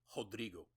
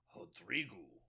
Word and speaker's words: Rodrigo: developed, particularly in Brazil, a lot of words that start with R, they pronounce the R like an H. I don't know why, but it's Rodrigo. And then that, for some reason also that I don't understand, the last O on many words sounds like a U sound. So it's like Rodrigo.